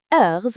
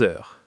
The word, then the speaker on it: heures: Il est 3 heures. Parfait. And it is 5 o'clock? Il est 5 heures. Excellent. See, you're getting it. The S at the end of heures is silent, but it's important for writing.